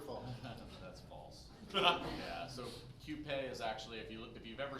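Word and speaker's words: Qupé: It's actually Cupé. A lot of people say coupe, yeah. but it's actually Cupé. So you would pronounce the Q.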